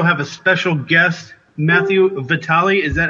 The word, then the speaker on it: Vitale: asking we also have a special guest Matthew Vitali is that how you would pronounce it yeah that's actually one of the